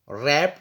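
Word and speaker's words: wrap: में B silent यासर रप the wrist watch इसमें रप में डब् साइलेंट है और रेस्ट में डब्लू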